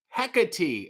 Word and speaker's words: Hecate: he kate said rj my screen name is pronounced heck a t hecate it really looks like